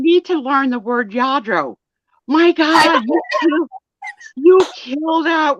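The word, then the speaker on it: Lladró: Yadro, oh my God. I'm yelling at you through the screen. It's Yadro, and people are typing the double L in Spanish is pronounced Y, and you're not reading it.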